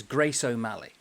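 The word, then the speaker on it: Gráinne Mhaol: it is gr Walia it's not how you think it's pronounced cuz it's Irish it's not English and I thought oh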